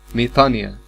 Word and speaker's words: ميطانيا: وفي بعض الأحيان بتتكتب ميطانويا هي راجعة على النطق الخطأ لحرف الأوميكرون إبسلون، لأن الأوميكرون إبسلون في اللغة اليونانية وفي اللغة القبطية بيتنطق إي، فأنا بنطق ميطانيا ده معناه.